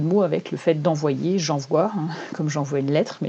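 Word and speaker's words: JanVoix: le défi j'envoie donc j'envoie ça s'écrit J a n V o i x donc je comme le début de janvier et voit comme étendre ta voix influente par le podcast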